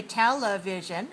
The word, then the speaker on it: television: right if we say television we have four syllables we stress the first everybody say television show